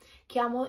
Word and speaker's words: chiamo: of the word kiamo chiamo is a particular sound it's like the key sound that you open that